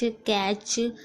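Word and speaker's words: catch: अच्छे से समझ लीजिए बैच कैच मैच इन सभी में आप देख रहे हैं टी को कहीं भी पढ़ा नहीं जा रहा है कोई भी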